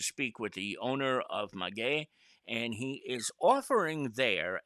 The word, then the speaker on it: Maguey: We heard Magoo, we heard all sorts of things. It's Maguey.